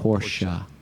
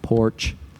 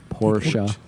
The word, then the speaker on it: Porsche: We used to have little stickers that said, Porsche is a 2-syllable word.